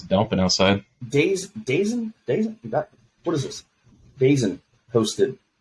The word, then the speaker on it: DAZN: Dazen.